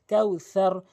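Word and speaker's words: كوثر: রয়েছে সা হচ্ছে জিহ্বার আঘা দাতের আগা থেকে উচ্চারণ হয় কাউসার কাউসারা এভাবে এভাবে উচ্চারণ করবেন।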